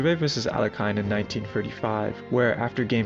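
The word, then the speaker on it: Alekhine: play the game alakin then I was listening to Hikaru one day and he kept saying alien I don't know who where that pronunciation came from I actually went to Google and how it do um text to speech like to tell me how you're supposed to pronounce it and it said you're supposed to pronounce it alakin so that's what I'm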